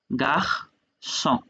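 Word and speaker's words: garçon: এটা গাহ স, সি এর নিচে সে দিয়ে থাকলে স হয়, গাহ স।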